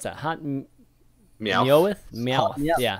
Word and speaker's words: Meowth: How do you pronounce that? Hot Meowth? Meowth.